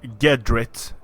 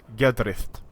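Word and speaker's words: gedriht: So it's not Gedrit, it's Gedrith.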